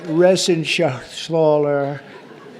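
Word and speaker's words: Reschenthaler: John David Joyce David thank you and Guy Ren Shaler you know that Ren Shaler he's uh that's actually the way you pronounce it you know nobody else gets it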